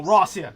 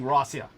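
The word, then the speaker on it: Россия: thought you said Lucia oh no no Rosia he was saying rasia yeah which is yeah the Russian pronunciation for itself oh I use the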